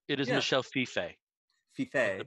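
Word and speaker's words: Fiffe: series, but I've been reading Copra by Michelle Feef, and Copra number 6. Can I just interject there? It is, yeah. Michelle Feife. Feife.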